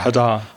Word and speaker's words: Hadar: accents way English with is it pronounced haar or Hadar Hadar with Hadar okay sorry accents way English